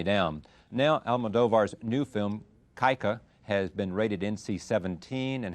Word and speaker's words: Kika: Am I pronouncing the name of the film right? Kika? Kika? No, Kika. Kika. Kika, Okay, yes.